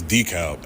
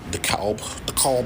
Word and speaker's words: DeKalb: This DeKalb. Ain't nobody DeKalb Avenue. Nah, nigga. This is DeKalb, nigga. Straight like that. Anybody say it any other way, they fucking stupid and they not from New York.